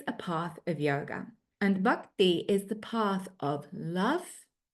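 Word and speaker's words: भक्ति: You might be more familiar with that word pronounced as bhakti. That is a very anglicized pronunciation of the Sanskrit. A closer pronunciation is bhakti, but I'm sure I will evolve my Sanskrit pronunciation until the day I die.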